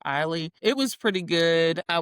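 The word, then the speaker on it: Ihli: I want to say it's Ely. It might be pronounced Eiley.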